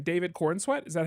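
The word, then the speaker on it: Corenswet: David Cornsweet.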